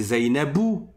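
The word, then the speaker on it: زينب: Une femme qui s'appelle Zainab, en réalité, la dernière lettre de son mot, elle n'a pas un soucoun. J'écris ici Zainab mais en fait c'est Zainabou où en fonction de sa de sa place dans une phrase ça va être Zainaba ou bien Zainabi. Mais nous on entend pas Zainabou ou Zainaba ou Zainabi. On entend Zainab.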